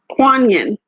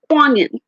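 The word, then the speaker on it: Kuan Yin: Jannah right we have no Sarang excuse me kuan-yin see I know I was pronouncing wrong kuan-yin compassion release judgment about yourself and others and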